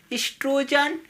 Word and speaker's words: oestrogen: एस्ट्रोजन देखिए, वो जो होता है आपका इसमें साइलेंट होता है, लिखा जाता है ओ से, लेकिन इसको पढ़ा जाता है ई से।